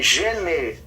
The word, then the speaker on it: gene: Então se escreve gene, se lê gen.